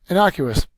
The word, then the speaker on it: innocuous: said military knock us innocuous is harmless in offensive or insignificant it is an adjective and we have our second syllable accented the synonym for this